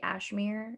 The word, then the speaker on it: Ashmere: and often and often i just say my name's like cashmere without the k because it i feel like it's it's spelled out that you could say ashmir i don't know how